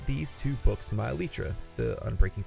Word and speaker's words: Elytra: I can trade for one of those, and I can add these two books to my Elytra.